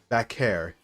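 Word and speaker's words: Vaquer: I used to call her Stephanie Vaker, but I know that's not it. It's Stephanie Vaker. Vakair.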